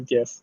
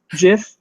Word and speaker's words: GIF: it's supposed to be gif but I call it a gift wait what jiff jiff is what you said right yeah I think I think that's how it's supposed to be pronounced but I refuse I